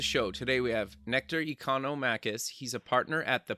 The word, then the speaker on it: Economakis: back to the show today we have nectar economakis he's a partner at the pnr nectar welcome